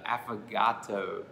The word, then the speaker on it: affogato: talked about, is the affogato. Did I pronounce that correctly? It sounds like Mr. Roboto.